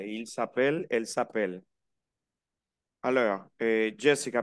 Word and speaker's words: s'appelle: Nous nous appelons, vous vous appelez, il s'appelle, elle s'appelle. Pronuncio hasta la L, appel.